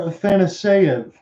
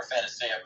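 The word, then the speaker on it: Afanasyev: So I'm going to go with this, Igor Athanaseyev. I think you nailed it. Okay, that's put that in etch it in stone. John, you just nailed the pronunciation. So Igor Afanaseyev with his first.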